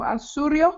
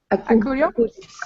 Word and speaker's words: Acurio: And they got a super cool partnership with Gaston Asurio. I don't know, do you say it like that? Akuri. Acurio, Yeah.